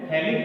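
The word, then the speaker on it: phthalic: थैलिक में P silent होता है, इसलिए आप इसको बोलते हैं थैलिक एनहाइड्राइड।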